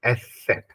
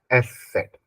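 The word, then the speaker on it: Eszett: इसको बोलते क्या है तो इसको बोलते हैं हम एस सेट इसको हम प्रोनाउंस करते हैं एस सेट क्या प्रोनाउंस करते हैं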